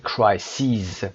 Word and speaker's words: crises: crisis تلفظ رو دقت داشته باشید. crisis جمع crisis به این شکل نوشته میشه CRISES یعنی شما دیگه این شکل رو نخواهید داشت. در انتها آی آخر رو باید به ای تبدیل بکنید و اون میشه crises. تلفظش میشه crises.